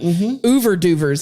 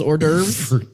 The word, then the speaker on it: hors d'oeuvres: Ouverduvers, as my dad calls hors d'oeuvres, because he can't pronounce it or spell it. Western.